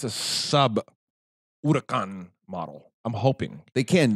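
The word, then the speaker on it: Huracán: I actually can't pronounce hurricane, so I'm just going to stay away from it. Wow, Jesus. Huracan. Okay. Huracan. Thunder.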